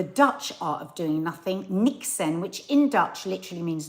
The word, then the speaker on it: niksen: is I'm afraid um so Nixon not like Nixon how would you say that in a Dutch because it's a Dutch word not the American president Nixon say it say it like you would say Doc Nixon is anyone Dutch here so basically I tried Nixon Nixon it is Nixon Do you know how